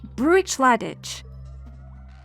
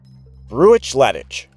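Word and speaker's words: Bruichladdich: Professor, this distillery is pronounced “BROO-itch-LAD-ich.” Okay, let me try: “BROO-itch-LAD-ich!”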